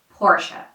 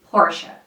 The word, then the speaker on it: Porsche: so the right way to say this is Portia Portia this is a French brand and the original French pronunciation sounds something like this Seaton Seaton sequin